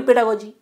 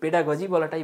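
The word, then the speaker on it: pedagogy: অনেকে পেডাগি উচ্চারণ করে। পেডাগজি বলি পেডাগজি বলাটাই বেটার তো যারা পেডাগজি বল তারা ঘাবড়ে যেন যে এটা আবার কি বলছে দাদা ও একই জিনিস পেডাগি পেডাগজি যাই হোক তো এই হচ্ছে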